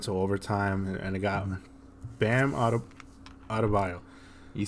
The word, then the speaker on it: Adebayo: Went to overtime, and it got Bam Adebayo.